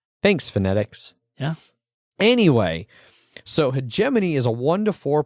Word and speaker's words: hegemony: was a kid much like leagues that i pronounced league use when i was young thanks phonetics yes anyway so hegemony is a one to four player board game